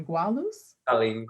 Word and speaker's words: Gualuz: Jason Parsons, Spencer Gavin, Salem, you're gonna have to say that for me, Gualuz? Yes, you said it right, yeah.